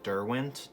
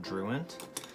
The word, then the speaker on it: Derwent: these products such as these pencils are pronounced derwent not druint and i figured out